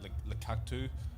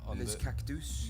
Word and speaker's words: Les Cactus: to embarrass myself here, Le Cactus. Is that how you pronounce it? Les Cactus. Yes, that's it.